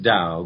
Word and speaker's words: Tao: when I did neither Dow is pronounced Dow but it is spelled in our language t8o so if you're